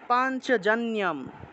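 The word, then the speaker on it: পাঞ্চজন্যম্: প্রদাত মাতুহু প্রদা প্রদা প্রদামাতুহু এভাবে তারপরে দেখুন পাঞ্চজন্যম অনুস্বার যন্ত্রণার জফলা থাকায় নিয় উচ্চারণ হবে পাঞ্চ পাঞ্চজন্যম ঋষিকেশ দেবদত্তাম ধনঞ্জয়হ অনুস্বার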